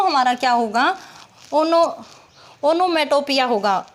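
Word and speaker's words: onomatopoeia: जिस किसी भी सेंटेंस में नेचुरल साउंड दिखाई गई हो तो वो हमारा क्या होगा, ओनोमेटोपिया होगा, एनोमोटापिया होगा, एनोमोटापिया होगा, इसकी प्रोनाउंसिएशन यही होगी, ओनोमेटोपिया।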